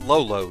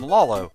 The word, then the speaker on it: Lolo: supposed to be pronounced lolo just repetition of that one syllable as a child however i got used to calling him lalo it's just the way